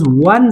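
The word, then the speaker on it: one: दुआ यहां पर देखो इस वो की तरफ हम लोग प्रोनाउंस करते हैं वन वन जब हम लोग प्रोनाउंस करते हैं तो क्या होता है ओ का जो प्रनंसीएशन है वो चेंज हो जाता है इस वजह से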